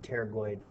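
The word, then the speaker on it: pterygoid: turgo meaning Wing uh spelled with a p a silent P but teroid processes which are part of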